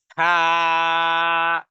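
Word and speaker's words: حاء: দ্বিতীয় দর্শের প্রথম অক্ষরটি উচ্চারণ হলো হা তার মানে জিহ্বার গোড়া বলা যেতে পারে বা হলকের মধ্যখান থেকে উচ্চারণ করতে হবে আওয়াজটাকে কঠিন করতে হবে এবং গলার মধ্যখান থেকে আওয়াজ আসতে হবে হা হা হালিম হালিম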